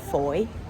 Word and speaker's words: Fowey: We're back in the very sweet town of Fowey. Disregard how I pronounced it earlier, it's supposed to rhyme with joy.